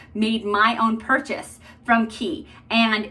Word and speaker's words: Quay: my own purchase from key and it's actually pronounced key not quay even though you would